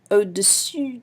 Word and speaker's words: au-dessus: However, there's one slight difference, dessus and dessous. There's the difference of the U sound and the OO sound.